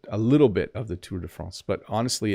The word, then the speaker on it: Tour de France: cycling course like the Tour de France or Tour de France sorry to that's how they say it here but Tu de France you'd be able to